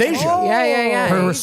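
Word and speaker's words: Aja: Oh, pronounced Asia.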